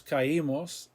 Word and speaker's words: caímos: We fell, nos caímos, accent on the I.